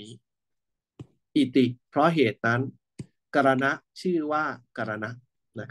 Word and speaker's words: กรณ: เป็น ภาษา ไทย นะ ถ้า บาลี ก็ คือ กรณะ นะ ครับ กรณะ ถ้า บาลี ต้อง เขียน แบบ นี้ นะ กรณะ นะ ครับ ถ้า เป็น ภาษา ไทย ก็ อ่าน ว่า กอน นะ ก็ กระธาตุ ยุ ปัจจัย